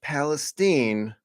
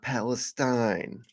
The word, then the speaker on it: Palestine: It's Palestine, not Palestine.